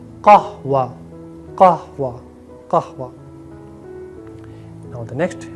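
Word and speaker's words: قهوة: No correct Arabic pronunciation is not kahava. Correct Arabic pronunciation is kahwa.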